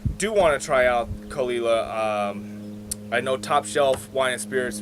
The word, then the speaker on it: Caol Ila: people of KC because you're saying kalila but it's just look at the title of the video that's how you spell it yeah it just doesn't sound like I'm gonna say that